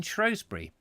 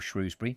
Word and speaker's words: Shrewsbury: hanging Judge Jeffreys, who went to school in Shrewsbury, or Shrewsbury, depending on how you want to pronounce it, in what is now the library, but it's now the school.